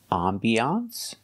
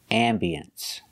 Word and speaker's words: ambiance: talk about this word this word has two pronunciations you cannot say this and the new hotel had a very nice ambiance that's right you cannot say I'm Beyonce you can say ambiance or ambience it has two pronunciations